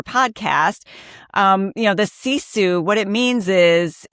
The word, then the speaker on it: sisu: It is a Finnish word called CISU. It's spelled s i su if you're listening and want to be able to picture it in your head like I do.